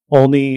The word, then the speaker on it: Olney: So you grew up in Olney, Maryland. Am I pronouncing it correctly?